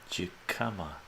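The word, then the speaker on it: jicama: The pronunciation of it is weird. Jikama, hikama, hikama, hikama, hikama, hikama.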